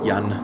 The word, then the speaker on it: Jan: Jan rhymes with An.